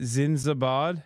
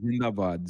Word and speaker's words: Zindabad: At least Pakistan's how do you say it? Zinzabad? It's called Zindabad.